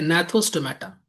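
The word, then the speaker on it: Gnathostomata: इसको बोलते हैं एनाथा। ठीक है? अनाथा अनाथा या अनाथा अनाथा या एनाथा जी साइलेंट है ठीक है और ये क्या हो गया यहां भी जी साइलेंट है नाथोस्टोमेटा ठीक है अच्छा यहां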